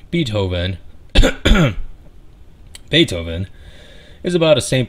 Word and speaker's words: Beethoven: spelled with two e's i immediately want to pronounce his beat oven as in b and hoeven but i'm using all the fibers of my being to prevent mispronouncing the name beethoven beethoven is about a saint bernard that lost